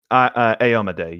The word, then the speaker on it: Aomide: Okay, is that how it's pronounced? Aomide? Aomide, yes.